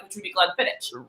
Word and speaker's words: Glenfiddich: But that is the reason it's not Glenfiddich. So we're going to the Gaelic pronunciation versus what English looks like, which would be Glenfiddich.